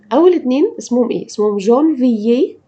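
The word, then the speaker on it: janvier: مرة كمان، جانفيي فيفريي، قلنا ايه المشترك فيهم؟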